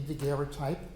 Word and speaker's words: daguerreotype: Okay, so when you look at, kind of the Three Stooges here, Daguerre, who invented the Daguerreotype, which I am told was originally pronounced Daguerreotype, but no one does that.